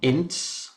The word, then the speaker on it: Ince: So what what it is um there is a firm of solicitors called Axiom ins. How do you spell that?